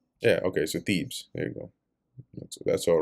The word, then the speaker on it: Thebez: Then went Abimelech to Thebes, Thebez, and encamped against. Let me see how it's actually pronounced here. Pronunciation. Yeah, okay, so Thebes.